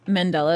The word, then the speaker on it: Mandela: Yeah, but you pronounced it awkwardly, so Mandela.